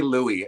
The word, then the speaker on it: Louis: could but you can you can say Louie you can pronounce it however you want you know what I mean so it could be Lewis or Louis like the words are spelled the same so don't message me